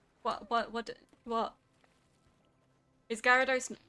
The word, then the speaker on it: Gyarados: I guess some people might look at it and go Gyarados and try and pronounce the Y, but for me it's always been Gyarados.